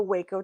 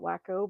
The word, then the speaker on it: Waco: So now the Waco, Texas thing ties into this as well. Okay. 93. the most he drove to I call it Waco, but we're going to say it properly and call it Waco, Texas.